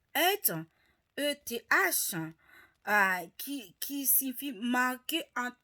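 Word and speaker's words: עת: Le temps en hébreu qui se prononce ETH, E-T-H, qui signifie marquer un temps d'événement, une époque, un temps usuel.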